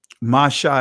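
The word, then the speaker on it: משה: Anyway, not getting into all of that, but Masha is the actual pronunciation.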